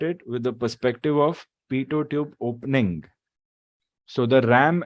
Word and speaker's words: pitot: o t o t the last t is silent it's okay if you call it pitot also we grew up